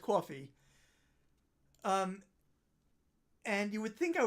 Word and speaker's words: Ko-fi: Okay, apparently the Ko-Fi / coffee fact claims that it's pronounced coffee.